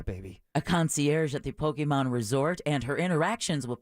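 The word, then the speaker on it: Pokémon: throw that out there it's not Pokemon it's Pokemon no no she's nailing it okay good the stop motion animated series will follow Haru oh yeah baby a concierge at the Pokemon Resort and her interactions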